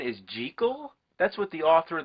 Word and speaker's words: Jekyll: pissed off lately you know that the proper pronunciation is G chol that's what the author of the novel insisted